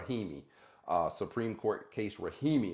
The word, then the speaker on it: Rahimi: to be another video about Supreme Court case rahani pronounce that word son R rahimi uh Supreme Court case rahimi is what we're